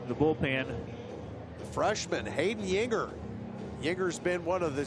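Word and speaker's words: Juenger: Last name is spelled J-U-E-N-G-E-R, but you correctly said, pronounced Yinger.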